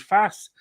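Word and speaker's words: Faes: who is not playing is called fast but it's f-a-e-s i think terry um it's pronounced fast which is what it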